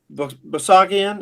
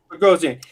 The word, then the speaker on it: Bogosian: Basagian? Is that how you say his name? Bogosian.